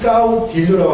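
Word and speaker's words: caudillo: 이 까우디오 세계는 까우디오라고 하는데 발음이 까우디오가 맞습니다. 까우디오 까우디오 엘레 발음이 엘 발음이 안 되고 스페인 요가 나요.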